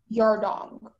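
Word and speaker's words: yardang: Can I have, are there any other pronunciations? There's just yardong. Yarna? Yardong.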